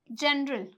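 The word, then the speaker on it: general: तो यहाँ पे जो हमारा जी है वो किससे पहले आया है? ई से पहले आया है, तो यहाँ पे इसका जो प्रोनाउंसिएशन है वो क्या हो गया? जय हो गया।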